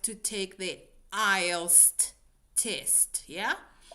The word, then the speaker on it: IELTS: Would really like to take the IELTS test. Yeah. Don't forget that last S. Seb, when you when you pronounce this, please say I Yes. Don't forget the last S.